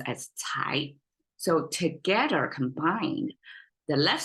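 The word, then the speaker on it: 才: is Chinese way to say Talent or potential pronounced as Thai so together combined the left side symbolize the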